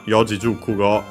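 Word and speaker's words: 四字熟語: And by the way, also to show again the accent of those these one, Yojijukugo, is also accented on the two, so on the first mora of the second word part of the compound.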